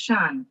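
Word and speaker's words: Sian: So, you could go, and then Giselle. Thank you, Ladita. Good morning, everyone. My name is actually pronounced Shan, by the way, but don't worry about it.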